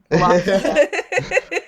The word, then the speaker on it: Wallachia: Wallachia.